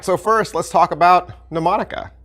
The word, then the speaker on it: mnemonica: first let's talk about mnemonica right mnemonica well it's spelling looks like this and the m right there at the front that is silent and until you hear